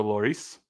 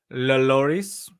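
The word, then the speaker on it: Lloris: goalkeeper's name again Hugo lorice lorice so you do say the L pretty sure it's not Loris it's it's not Loris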